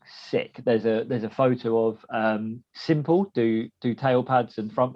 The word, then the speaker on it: SYMPL: So it's spelt a bit weird. But Simple.